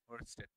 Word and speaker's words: Oersted: আর এর উচ্চারণটা আইব, ওয়েস্টেড।